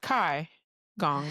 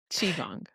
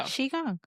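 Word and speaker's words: qigong: And it's not Kai Gong or Ki Gong. It's Chiong. So Chiong.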